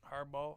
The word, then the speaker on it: Harbaugh: I'm pretty sure what Jim har harb is Harbaugh what do he say